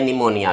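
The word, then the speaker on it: pneumonia: न्यूमोनिया, न्यूमोनिया, तो ये इसकी जो है करेक्ट स्पेलिंग है निमोनिया की, तो ये आपने इसमें ध्यान रखना है।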